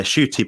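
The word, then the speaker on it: Schuett: to see that interview yeah shoy but it's pronoun it's spelled like s c h u e TT um I think her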